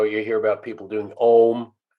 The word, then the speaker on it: om: about people doing om well this is the om thing you know the buddhist mantra but he stretches out into four distinct syllables to really get the resonant frequencies and they resonate in different levels ah is resonating up higher all right lower mmm resonating lower and then ma takes you back up again so it